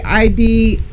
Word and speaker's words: Idris: how to say it how do you say i-d-r-i-s you just said it idris anyway but